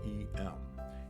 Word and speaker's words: em: right is 1 r e m and EM is pronounced like M letter M so it's the width of the letter M and R is for